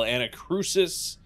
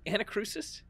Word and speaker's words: Anacrusis: be playing a little anacrusis is that how you pronounce it anachrosis yeah like a cruise ship well i would say